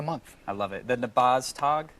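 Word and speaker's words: Nabaztag: I love it the nabaz tag nabas tag that's correct all right everybody will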